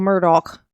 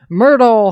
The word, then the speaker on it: Murdaugh: Alex murdal I like I like to call it Myrtle he want to be called Murdoch but his name ain't spelled like that okay so Myrtle he is okay but